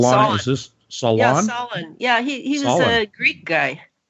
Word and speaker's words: Solon: Most recently, she wrote the story, What Would I can't pronounce this. Is this Elana? Solon. Is this Solon? Yeah, Solon.